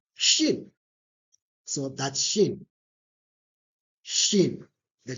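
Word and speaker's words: شين: So, it's pronounced as sheen and it's sh.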